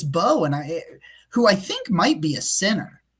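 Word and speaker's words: Mbow: I just heard a bunch of people say it's Bo, and who I think might be a center, might be his best spot. But Yeah. like, yeah, for some reason, apparently the M is silent.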